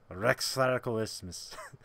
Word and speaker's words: Rex Radicalismus: Rex is right. Okay. It's links in the Rex. And Okay. then radical it's just like radical and then ismus. Rex Radicalismus.